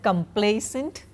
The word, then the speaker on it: complaisant: Now, next two words are complacent and complacent, quite similar in pronunciation. They are pronounced alike, but they have different meanings.